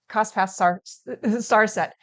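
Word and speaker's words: Cospas-Sarsat: pass source set um i had to look up how to pronounce that cost pass star set it's an international collaboration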